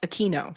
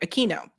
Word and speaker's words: Aquino: Eric said it's pronounced Aquino. Sorry, Aquino.